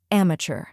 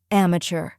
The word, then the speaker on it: amateur: lecture or tour inmature some speakers pronounce it with a more French influenced tour sound like in tour now let's put it all together amateur try repeating after me amateur now a little faster